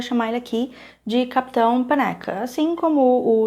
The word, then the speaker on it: Panaka: nome dele é Quarsh Panaka. Se escreve Panaca mesmo. Para ajudar um pouco, o primeiro A tem um pouquinho de som de E, não sei se ajuda